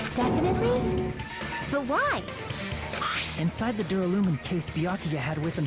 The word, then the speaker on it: Duralumin: Ah, it is Duralumin case. Awesome! Thank you, Ibuki, for pronouncing that for me, because I was unsure if I was pronouncing that wrong or right.